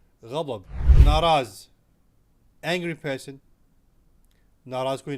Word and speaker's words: غضب: In the word غضب, ضاد is a difficult letter to pronounce. You can use DH, غضب, it's going to work out. However, the correct word is غضب.